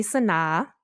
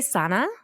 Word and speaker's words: SunAh: um you know like my name has many pronunciations so like a lot of people call me Sana um which is like all my like non-adoptee